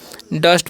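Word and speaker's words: dust: आगे देखिए क्या लिखा हुआ है, डी यू एस टी, तो यहाँ पर यू का उच्चारण अ करना है, तो इसे हम क्या पढ़ेंगे डस्ट पढ़ेंगे, क्या पढ़ेंगे डस्ट।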